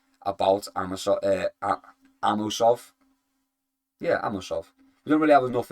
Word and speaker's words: Amosov: Amusov. Amosov. Yoruslav. Amosov. There we go. I said it. Yoruslav. Amosov. Amosov. I'm adding syllables.